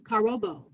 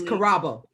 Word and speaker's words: Karabo: Her given African name is Karobo. And please correct me if I did not pronounce that right, Dr. Nunley. It's Karabo.